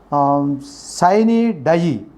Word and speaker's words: sine die: The pronunciation is sine die.